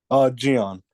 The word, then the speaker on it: Gian: how do you pronounce your first name? Is it Ian? Gian.